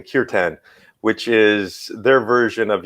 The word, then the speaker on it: kirtan: our yeah and and we have what they call kirtan or in the english pronunciation kirtan which is their version